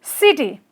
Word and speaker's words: city: And last one is you know city right with the stress on the first syllable. In terms of city we say city. City. Okay, because stress falls on the first you know part first part is you